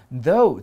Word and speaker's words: though: 文章中里面提到了，虽然她试着去烧她，但结果呢，她 Holika 自己却死于火海，而王子呢却活下来了。这个句子里面，同学要注意的是，though 这个字就是 although 的意思，字尾的 gh 是不发音的，表示虽然的意思。